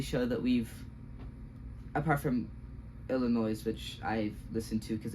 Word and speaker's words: Illinois: Illinois, which is Illinois, I think. Illinois, that's how you say it.